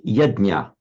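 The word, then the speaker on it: यज्ञ: So yedj plus um suffix n making a verbal noun becomes yedna.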